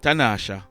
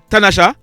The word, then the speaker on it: Tanasha: that lady on your screen her name is tanasha brown artanasha but it is spelt t-a-n-a-s-h-a she was 38 years old tanasha